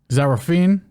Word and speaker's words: Zarah Fairn: Zarah Fairn, that's how you say her name, supposed to be fighting Haley Cowan.